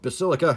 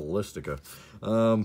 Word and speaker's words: Basilica: Orzhov Basilica. Hey, I said it right that time. First time ever. I always call it the Ballistica.